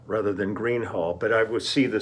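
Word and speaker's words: Gruene Hall: is Thursday February 9th um we uh okay pronunciation um last night we played in Green Hall out here in New Braunfels Texas I was pronouncing it Gruen Hall rather than Green Hall but I would see the spelling and I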